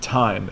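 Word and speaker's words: thyme: it if I just if i take thymine like this and I just put an e at the end it makes the words pronounced time and time is a seasoning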